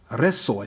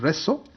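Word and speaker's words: Rzeszów: the nearby town of resso i think it's pronounced reso and a number of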